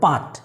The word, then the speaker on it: put: দেন next কাট, তারপরে বাট, তারপরে পাট। সো এটা কিন্তু আমরা পাট বলছি না, সো এটাকে আমরা পুট বলছি।